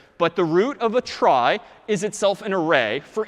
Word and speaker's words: trie: a try so a try sort of a weird name and pronunciation short for retrieval pronounced try typically a try is